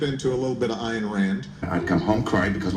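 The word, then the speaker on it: Ayn Rand: not just over how to pronounce her name an Rand or an Rand or however the moderns pronounce it an Rand not an ran a ran iron RS I'm told it's iron ran iron Rand one man can stop the Moor of the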